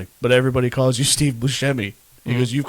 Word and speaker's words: Buscemi: and I love Steve Buscemi, so I would love to check that out. Steve Then Buscemi is the man. it's actually pronounced Steve Buscemi.